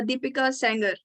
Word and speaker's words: Deepika Sanger: her name is deepika tell me if i'm pronouncing your name correct or not yeah it's a deepika sanger okay deepika sanger yeah okay so in today's video she will